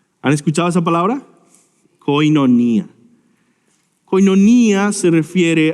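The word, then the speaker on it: κοινωνία: hablar de comunidad es esta palabra que se pronuncia koinonía han escuchado esa palabra koinonía hoy non ía se refiere a comunión comunidad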